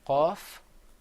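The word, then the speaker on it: قاف: Another difference is that the qaf is pronounced full-mouthed. You kind of purse your lips a little bit. You say qaf. Whereas the kaf, you open your mouth up.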